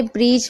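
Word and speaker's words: bridge: देख रहे हैं देखिए ध्यान से डी है और उसके बाद जी है तो डी साइलेंट है इस तरीके से भी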